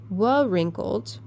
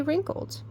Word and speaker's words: wrinkled: Because when we say wrinkled, we don't pronounce that W. We don't say wrinkled, we say wrinkled.